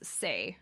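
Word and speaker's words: 声: is a reference to the kanji for voice, which can be read as sei and is spelled S-E-I, which is the first part of her name.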